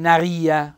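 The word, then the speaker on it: narìa: con due m min Naria bell' accento tonico sulla i ti Ten naressi lul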